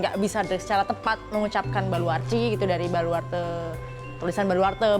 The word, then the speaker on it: Baluarte: Jadi dari kata Portugis gitu, Baluarci gitu. Baluarci. Iya, Baluarci. Tulisannya sih Baluarte ya. Oh, tapi bacanya Baluarci.